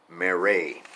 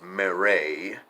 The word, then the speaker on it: Marais: read anything else by Marais it's not spelled Marais it's one of them French names kind of like Calais where you don't pronounce the S mr.mayor a Eugene is